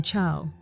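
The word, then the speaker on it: ciao: vowels e or I it sounds like CH as in Chia the famous Italian greeting but if C is followed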